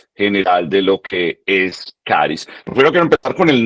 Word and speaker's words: CHARIS: Yo sé que en algunos lugares de Latinoamérica lo pronunciamos charis por el ch. No hay nada malo en pronunciarlo así, pero yo les aconsejo que lo pronunciemos caris porque en cualquier parte del mundo lo pronunciarán caris.